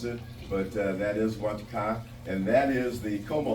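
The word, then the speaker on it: Ouachita: this 1910 look, where you're looking straight down Wakata or Wachita, however you prefer to pronounce it. But that is Wachita, and that is the Coma Hotel, obviously, and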